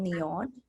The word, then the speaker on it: NIOD: I love this brand called Neon. I buy it from Net-a-Porter actually. It's spelled as NIOD, and they have very happy.